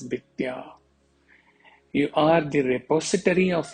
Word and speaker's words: विद्या: Vidya, here in Awadhi it is pronounced as Vidya.